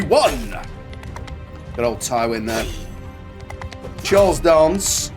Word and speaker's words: Charles Dance: Charles Dance, as is the correct way to say it, I believe, but I'd say Dance personally, because I'm from North.